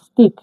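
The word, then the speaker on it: ыстық: হার্ডভাবে উদাহরণ দেখি দেখুন স্পিক স্পিক মানে গরম স্তিক মানে গরম এটা আই এটা এটি আই কে টি আই কে স্তিক স্তিক মানে গরম গরমকে কাজের ভাষায় বলা হয়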